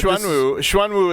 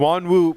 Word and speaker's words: Xuanwu: Yeah, Xuanwu is. I haven't seen the characters, but Xuanwu would be how you pronounce.